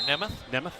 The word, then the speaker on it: Nemeth: Let's go short E there, Nemeth.